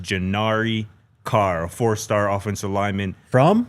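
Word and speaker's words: G'nivre: That is pronounced Jari Carr, a fourstar offensive lineman from from IMG Academy.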